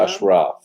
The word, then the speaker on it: Ashraf: Ashraf is the proper pronunciation.